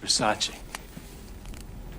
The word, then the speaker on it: Versace: it's a vers it's Versace what Versace it's pronounced Versace oh you know and then also moving on